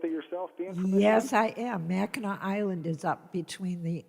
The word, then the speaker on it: Mackinac: of the michigan residents corey what's that it's pronounced mackinaw mackinac smackdown are you familiar with it yourself yes i am mackinac island is up between the upper and lower